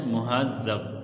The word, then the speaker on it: مہذب: مہذب، ٹھیک ہے بیٹا، زال کے تشدید کے ساتھ۔ اسی طرح اگلا لفظ